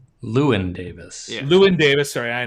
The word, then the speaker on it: Llewyn Davis: From 2013, Inside Llewellyn Davis. Lewin Davis.